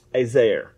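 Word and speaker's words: עזר: It's Azer in Hebrew. All right, this is Azer. It's spelled Ayin Zayin Resh.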